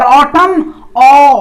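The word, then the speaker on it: autumn: और ऑटम देखो ऑटम, यानी एम एन का जो प्रोनाउंसिएशन हो रहा है वो क्या हो रहा है? मो।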